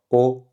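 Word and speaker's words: 哦: Donc elle est seulement en fait dans le caractère O, donc qui se prononce comme en français O, et dans ce caractère qui se prononce lo, donc ton neutre.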